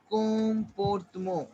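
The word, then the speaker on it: comportement: Comportmo. Repeat after me. Comportmo. Repeat after me. Comportmo. Comportamo. Phonetics कर रहे हैं यहाँ पे. Comportmo. En sound is on. En sound is on. T is silent.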